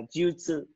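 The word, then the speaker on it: 術: Khi nó ghép với các chữ án khác thì nó sẽ đọc là jutsu.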